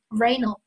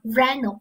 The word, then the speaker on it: rhino: 我们是什么意思啊？rhino，哎，没错，犀牛啊，同学们记住这个 h 它不发音啊，rhino 指的是犀牛。